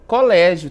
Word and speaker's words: colégio: Nós temos aí um som aberto, Diferente ali do bebê, que o som é fechado, colégio e enérgicos tem aí sons abertos, certo?